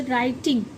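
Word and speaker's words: writing: अगर डब्ल्यू डब्ल्यू के बाद या डब्ल्यू से पहले डब्ल्यू डब्ल्यू के बाद आर आता है तो भी डब्ल्यू साइलेंट होता है। यह तो आपने देखा ही होगा। देखो जैसे राइटिंग अब इसे हम क्या बोलते हैं? इसे हम राइटिंग बोलते हैं ना र से स्टार्ट करते हैं।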